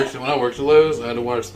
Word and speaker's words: Lowe: Lowe's family case and I keep saying Lowe's but it's low you're thinking of the store here because it's spelled l-o-w-e and I'm having a hard time like not adding an S that's what they did